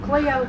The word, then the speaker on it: Clio: It's spelled C-L-I-O. I've always called it Clio, Alabama.